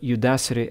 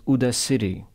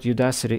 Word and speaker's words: Udacity: two tables 13 landmarks notice how screen view to pronounce the word Udacity as Judah city this is a pretty